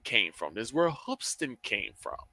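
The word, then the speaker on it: Hoopeston: There's a high school in Hoopston, Illinois. Spelled it is spelled hoop with an e s t o n, but it's pronounced Hoopston.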